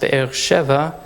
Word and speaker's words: Be'er Sheva: here we have bear-bear sheba in hebrew that's pronounced Be'er Sheva the air means of a well and the